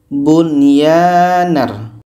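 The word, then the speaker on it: بُنْيَانًا: Bunyanar. Bunyanar. Nun jelas, ya jelas, dan tidak ada dengung. Bunyanar rabbuhum. Hukumnya izhar wajib.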